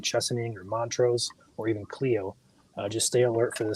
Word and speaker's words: Clio: second okay there's Joel it's Clio not Clio okay my bad I always pronounce it as Cleo but Clio all right yeah I